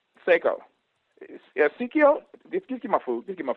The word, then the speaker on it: Saiko: i know somebody can call my name wrong uh psycho i'm like no seiko yeah just give me